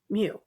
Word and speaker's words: mu: in a sorority and my sorority had a mu in its name. I will die on this hill. It is pronounced mu. and they just kept saying moo and it just it was just it was